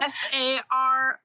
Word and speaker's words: Saries: It's Monday and then Saries. Yeah. Like anniversaries.